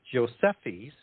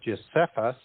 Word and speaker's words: Josephus: And his name is Josephus, or Josephus, if you wanted to pronounce the E with a lighter vowel sound, is going to be